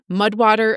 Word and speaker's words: Mudwtr: Mudwater is spelled Mudwtr.